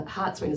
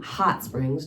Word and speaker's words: Hot Springs: I must have been living in Hot Springs. Justin loves to tease me how I say that with the emphasis on hot, I guess. That's not how you say it in Arkansas, even though I've been